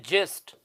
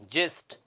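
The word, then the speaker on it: gist: दे रखा है ना जी आई एस टी इसको पढ़ते हैं जिस्ट क्या पढ़ते हैं इसको जिस्ट जिस्ट का मतलब किसी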